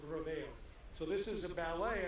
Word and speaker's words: Rodeo: So that's, if you get into an argument of how to say it, the sport is called rodeo, the event is rodeo.